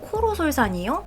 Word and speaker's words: 코로솔산: 코로솔산이요? 뭔가 단어가 어렵네요. 코로? 외국 단어라 좀 발음도 힘들고 기억하기도 힘든 것 같아요. 귀로는 아니고 코로죠. 코로솔산.